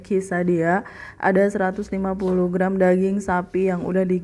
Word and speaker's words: quesadilla: Nama makanannya adalah quesadilla, tetapi pengucapannya adalah kee-sa-dee-yah.